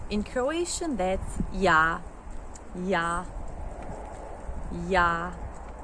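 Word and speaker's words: ja: In Croatian, that's ya ya ya. It's yah. J is a y and it's not j.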